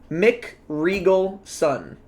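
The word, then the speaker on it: McRegalson: n wait wait wait wait I'm sorry Arthur Mick Regal Sun Mick Regal Sun okay Arthur mcriegelson such a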